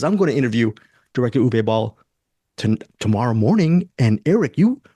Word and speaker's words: Uwe Boll: How do you pronounce it? Uwe Ball? When you interviewed him? Uwe Boll.